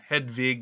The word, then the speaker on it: Jadwiga: a marriage to a Jadwiga, or Hedwig is the other way in which her name is pronounced, a princess of Poland.